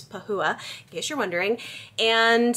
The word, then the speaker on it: Pahua: I did learn through the course of reading the book, you pronounce her name Pahua. I was like, is it Pahua? I don't know. It's Pahua, in case you're wondering.